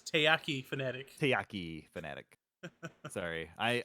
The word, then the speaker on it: taiyaki: matt would say it he would say takayaki but it's taiyaki fanatic tayyaki fanatic sorry